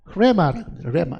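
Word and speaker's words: ῥῆμα: 그거를 레마라. 그러니까 이거는 H 발음을 잘 안 하니까 보통은 이것도 헬라어입니다.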